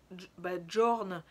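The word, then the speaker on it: Jørn: les années 50 chez les trappeurs du Groenland, Jorn Riel, pardon, parce que ça s'écrit J-O-R-N, a rapporté ses désormais célèbres racontars.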